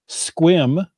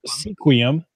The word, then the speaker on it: Sequim: Port Townsend, Sequim, Yeah. or Sequim, as the non-natives like to pronounce it, Shelton, Belfair.